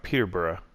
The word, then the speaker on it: Peterborough: up it's always pronounced peterborough like you don't pronounce it as burro it's burra so that's just how